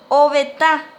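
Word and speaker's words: ovetã: Obeta, obeta, con acento nasal en la A, es ventana, obeta.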